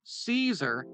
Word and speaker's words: Caesar: In classical Latin, the “C” sound is hard, which means that the pronunciations of caesar, kaiser, and tsar are very similar.